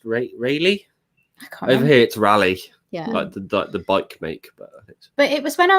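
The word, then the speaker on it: Raleigh: he was born vegan i think it's pronounced rayleigh but it was when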